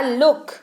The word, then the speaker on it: look: जैसे कि LOOK, ये हो गया लुक। LOOK बन गया लुक यानी कि देखना।